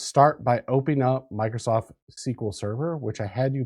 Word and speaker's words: SQL: We're going to be learning about SQL, also known as SQL. The weirdos pronounce it SQL, and us cool people pronounce it SQL.